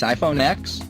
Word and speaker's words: iPhone X: big-ass announcement, the big-ass iPhone X. That iPhone X, pronounced like Mac OS X and not Malcolm X, will cost you a non-trivial $999, which is officially car money, and not just phone money.